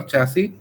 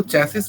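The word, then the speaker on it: chassis: To system framework और चैसी टू, इसको चैसिस नहीं, हमेशा इसको प्रोनाउंस करते हैं चैसी, ठीक है। लास्ट में जो आगे एस है वो साइलेंट है।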